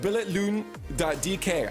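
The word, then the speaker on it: Billetlugen: You can find it at billetloon.dk. I was told the G is silent, so I'm getting closer.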